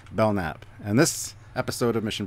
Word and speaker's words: Belknap: here we're doing the Belk nap you're wrong you're wrong belnap it's just the bellnap the K is silent for some reason I made that mistake